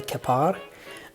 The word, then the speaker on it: Keppard: his name is freddy kapaar that's the french pronunciation he was a french